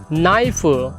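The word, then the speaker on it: knife: हैं ए नाइफ आप ए नाइफ इसका के साइलेंट होता है कि रसोई के चीनी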